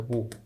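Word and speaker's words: mho: 뭐 뭐 그죠 그래서 이거를 어떻게 읽는 거 이거를 뭐라고 있습니다 모 이건 옴이 옴 저항에 단위는 옴이 그런데 컨덕턴스의 단위는 뭐다 모 예 뭐라고 있습니다 이거요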